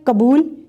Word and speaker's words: قبول: زبر ہے تو زخم، کاف کے اوپر زبر ہے قبول، میم کے اوپر زبر